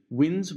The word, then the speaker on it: winds: continues the musical theme before the 18th century winds would have been pronounced more like wines rhyming with kinds and as early as